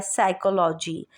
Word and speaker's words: psychology: अब यहाँ पर पी स्टार्ट में है सेकंड वर्ड में, PSYCHOLOGY, साइकोलॉजी। साइकोलॉजी में पी, जब भी पी और एस का कॉम्बिनेशन यानी पी और एस साथ आएंगे तो पी साइलेंट हो जाएगा।